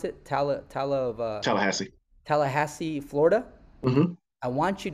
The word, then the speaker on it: Tallahassee: booth, and then is it how do you pronounce it? Tallahassee.